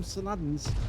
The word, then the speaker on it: Saladin: The British used to call them Saladins, but Saladin actually should be the correct pronunciation, because after all it was named after the Muslim warrior, the warlord, who actually brought a